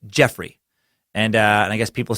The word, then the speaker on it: Geoffrey: and Merlin and again the name is pronounced Geoffrey not Joffrey and that's what I said in the episode I said Geoffrey it's a weird one